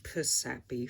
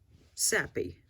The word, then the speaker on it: Sappy: Psyduck's name is Sappy, which I've been pronouncing Psappy for some reason, despite the fact that the original intention was the fact that Psyduck was spelt with a P, so therefore Sappy.